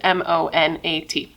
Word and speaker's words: Monat: So she wanted to start working harder at this MLM called Monat, I believe is how you pronounce it, M-O-N-A-T.